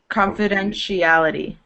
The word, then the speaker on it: confidentiality: So once you get to this middle part, the TIA, it almost sounds like a ch. Confidentiality.